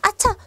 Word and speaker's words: hacha: 거죠 그리고 자 이렇게 아차 앞에 발음이 안 지만 h 있는 이런 단어가 있다라는 거죠 우리 아차 이러 이제 도끼라는 뜻을 갖는 단어인데요 아차 도끼를 빠뜨렸어요네네 그 도끼입니다